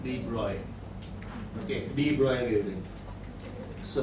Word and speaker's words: de Broglie: Physics में हम लोग इसको de Broglie बोलते हैं. The correct pronunciation is de Broglie.